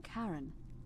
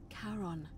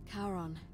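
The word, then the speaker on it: Charon: it's just as you described it only your pronunciation is a little off the name you heard wasn't karen it was c h r o n as in caron the ferryman of the dead karon who in exchange for the right coin helps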